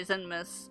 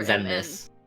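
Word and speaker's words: Xemnas: I know him, and I know the main guy, Zemnis. Is it N-M or Zemnis? Zemnis.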